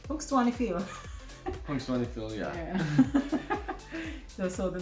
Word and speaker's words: Punxsutawney Phil: Punxsutawney Phil. Punxsutawney? Yeah. Punxsutawney Phil. Punxsutawney Phil.